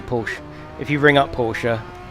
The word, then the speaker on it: Porsche: they say porsche so if you ring up the service center they answer it as porsche so that's probably the right way to say it i'm off to watch